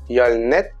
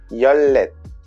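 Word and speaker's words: 열넷: 14, écrit comme ça, j'entends beaucoup dire yolnet, mais en fait c'est yollet.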